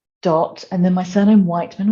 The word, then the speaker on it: Wightman: and then my surname Wightman, which is spelt in a really unusual way, like the Isle of Wight and then man .yoga.